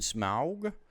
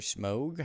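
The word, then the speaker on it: Smough: Ornstein and Smaug. Smaug or Smogue, however you want to pronounce it.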